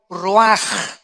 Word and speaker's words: ruach: La palabra que se usa aquí, 4 vientos, es la palabra hebrea ruaj, o se escribe ruach, que es como se traduce la palabra espíritu.